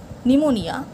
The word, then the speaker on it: pneumonia: come L Autumn n fashion T right W pneumonia p number B take the correct option number